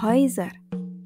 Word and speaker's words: Häuser: Dan diphthong oi yang penulisannya dengan menggunakan vokal A umlaut misalnya dapat ditemukan pada kata Häuser. Ditulis dengan A umlaut dan U, tapi dibacanya oi. Häuser.